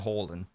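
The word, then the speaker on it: Haaland: like I call harand Halland because I prefer to call him Halland because that's a Norwegian pronunciation uh both are both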